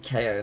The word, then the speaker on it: Kao: Yeah, it should be KO, not Kao. To be fair, like, I sort of pronounced KO's name as Kao in the first one.